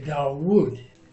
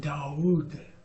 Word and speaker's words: Dawood: People who call it a wow are gonna say Dawood. Oh, terrible. Dawood? Why? There are lots of Arabic people named Dawood. Oh, it's really Yeah, Dawood. yeah, Arabic people naming their kids David, but they just pronounce it a little differently.